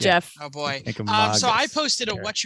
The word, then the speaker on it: Kancamagus: New Hampshire native relatives corrected me and said Kancamagus. So I remembered that because I prefer to pronounce things correctly if possible.